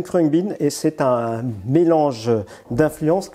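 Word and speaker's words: Khruangbin: musque ça tombe bien et ce groupe s'appelle crang bean j'ai mal le prononcer k h r u a N G B i n CR bean et c'est un mélange d'influence incroyable et un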